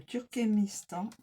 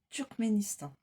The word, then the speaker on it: Turkménistan: Le Turkémistan turc pardon je de mal prononcé turcménistan. Le Turkménistan lophét de Marie-Madeleine, la gardienne